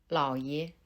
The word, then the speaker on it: 老爷: Les deux caractères qui le composent sont différents. Le premier caractère est 老, qui se prononce au troisième ton. 老, 老, 老. Tandis que le deuxième caractère est 爷, qui se prononce au ton neutre.